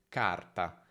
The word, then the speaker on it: carta: Il mio consiglio però è, se tu vedi una singola R, pronunciala come una R monovibrante, quindi carta, carta, mentre se vedi una R doppia, allungala.